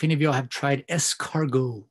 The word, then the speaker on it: escargot: of y'all have tried escargot right again if you're gonna order it you've got a sound intellectual you don't pronounce the t right it's a french term escargo i personally have